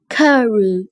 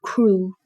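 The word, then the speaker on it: Crewe: They pronounced it Carew instead of Crew.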